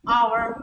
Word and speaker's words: hour: I saw him an hour ago an hour not a hour ago because there the letter the reason for that is that the letter H is not realized last we so it's